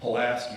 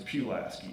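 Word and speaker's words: Pulaski: You know, it's not pilaski, it's pulasi.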